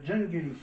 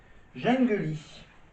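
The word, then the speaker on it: Jungeli: qui s'appelle jungly jungly ça se prononce donc jungly al on va faire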